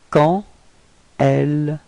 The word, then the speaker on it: quand elle: Okay, and here the D would be pronounced a bit more like a T.